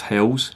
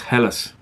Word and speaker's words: Helles: lager beer see that that's not pronounced Hills its helis this is from the